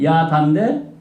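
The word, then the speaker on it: ידע: 이거는 똑같은 야다인데 요게 지금 뭐예요? 아는 안데 짧은 아야. 이것처럼 긴 아가 아니고 이건 어떻게 발음해요? 그래서 짧게 끊어야 돼.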